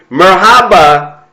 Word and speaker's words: Merhaba: I mean, it's just awesome just to welcome, and hopefully I say this right correctly, Merhaba, Diana.